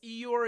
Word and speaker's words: Eeyore: Eeyore, am I pronouncing that correct? Tiffany Shi, yes, Eeyore is my spirit animal as well.